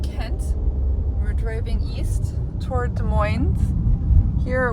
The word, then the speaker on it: Des Moines: We're driving east toward Des Moines. Here we call it Des Moines with an S, the Washington state, rather than Des Moines, Iowa, where we don't pronounce the S.